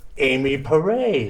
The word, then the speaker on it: Amy Porray: I'm just a regular old guy, so I don't know half of this stuff, which is why we brought in Amy Porray. Hello. Did I pronounce that properly?